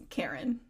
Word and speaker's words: Keren: And your last name, it's Karen. Karen is the last name, Okay, just wanted but to make sure.